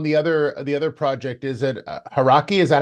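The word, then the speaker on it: Hauraki: And just lastly on the other project, is it Haraki?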